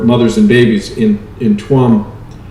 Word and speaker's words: Tuam: and babies in in tuam it's pronounced charm actually in irish gods god's orphanage now